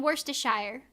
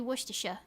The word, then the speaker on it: Worcestershire: I was saying Worcestershire. But I was pronouncing the Shire. It's supposed to be Worcestershire.